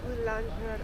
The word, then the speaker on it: boulangerie: Boulangerie. How do you pronounce it? Boulangerie.